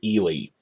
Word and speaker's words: Ehle: played by actress Jennifer Ehle I looked up how to pronounce that it's pronounced Ely and she's nice and